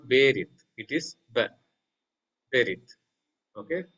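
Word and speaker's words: בְּרִית: So vocal Shiva is a short, or so to say, hurried E sound. Like, ba, not ba, not ba, not berit, not berit. It is ba, berit. Okay, berit.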